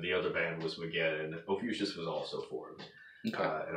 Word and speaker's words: Ophiuchus: So it's Ophiuchus. Ophiuchus. We I pronounce it incorrectly. Gotcha. The correct pronunciation would be closer to like Ophiuchus or something.